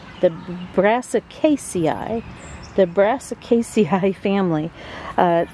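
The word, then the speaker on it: Brassicaceae: got to scroll up and see how that's pronounced the brassic Casi the brassic Casi family uh the plants in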